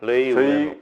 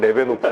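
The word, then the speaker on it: Leeuwenhoek: 자, 일단 그 네덜란드에 레이 우엔훅. 저희가 익숙하기엔 레베노프.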